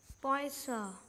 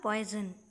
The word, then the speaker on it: Poisson: Poisson, that means fish. It's not poison.